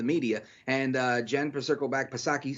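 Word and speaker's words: Psaki: and uh jen perserkelbach pasaki silent p she's like the correlation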